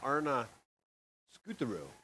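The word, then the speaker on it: Arne Skuterud: The Norwegian coach I met earlier through the lunch hour, and his name, phonetically, the best way to pronounce it is Arna Skuterud.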